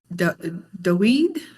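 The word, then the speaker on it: דוד: Dave pronounced it Daweed. Is that how Dave? I think that's how he's pronounced it. That is how it's usually pronounced in the modern Israeli Hebrew. And you could pronounce it David, or even Dude. I always thought that was kind of funny. In the Paleo, it's Da'uad, and this word means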